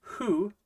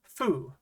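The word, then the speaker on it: フ: This little guy is hu or fu.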